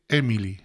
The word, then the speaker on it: Émile: hablar del caso de Emily emile emile que aquí en España me dijeron que era como Emilio y que en francés se pronuncia emil Bueno pues emil sabéis